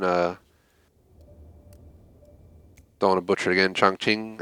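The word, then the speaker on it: Chongqing: dawn of butcher again chong ching i think is the way it said when i looked it up for at least the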